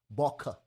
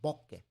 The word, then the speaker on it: bokeh: would pronounce it as baka make it with the schwa sound but it's japanese and the japanese pronounce it as bokeh so as you can